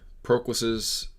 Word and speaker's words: Proclus: Okay, we're back to Proclus's. I need to pronounce it Proclus from now on.